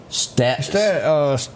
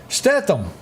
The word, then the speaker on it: Statham: And the only action one that really sticks out, and I'm going to say his last name wrong, is this Jason Status.